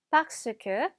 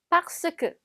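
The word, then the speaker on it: parce que: q 박스 q 자 여기는 지금 중간에 흑 아 있긴 있는데요 애가 워낙 빨리 넘어가다 보니까 마우스 그처럼 되는게 아니라 같이 박스 그처럼 발음이 되네요 그래서 애는 40 스크 가 아니라 박스 크 라고 읽어주시면 됩니다 자 그 다음에 날씨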